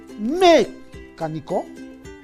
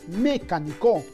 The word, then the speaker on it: mecánico: Nosotros le colocamos la mayor fuerza de voz en la antepenúltima sílaba. Es decir, nosotros decimos mecánico. Mecánico. Creo que no decimos mecánico.